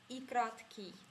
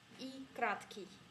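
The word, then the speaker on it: и краткое: En russe, ça se prononce comme I kratki. I kratki.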